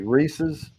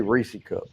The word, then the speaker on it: Reese's: By the way, Reese's, I'll say it correctly, and I'll also say Reese cup.